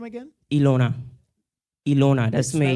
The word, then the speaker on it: Elona: Ilona. That's my name. Spell it?